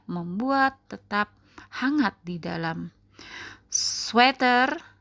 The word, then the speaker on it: sweater: tetap hangat di dalam sweater ya bacanya sweater bukan Sweater teman-teman sweater sketsa rumah tangan